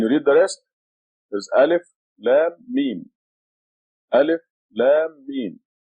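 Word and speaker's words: الم: This sign here is a madda. Means Alif, Lam, Mim. They want you to, when you read it, to extend the Lam and the Mim.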